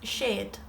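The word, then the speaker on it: siad: You all is shiv, and they is shade. I, you, he, she, we, you all, and they. And then that's may, tu, she, she, shin, shiv, shade.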